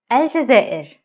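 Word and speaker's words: الجزائر: Aljazair, Algeria.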